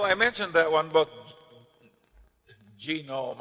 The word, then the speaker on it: Genome: Well, I mentioned that one book, Genome. I have a hell of a time putting the accent on the first syllable.